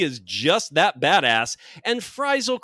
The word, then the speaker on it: Frisle: just that badass and fral correct me if I'm wrong Curtis uh with two s's but I believe that's pronounced like fival Like An American Tale fral Goes West is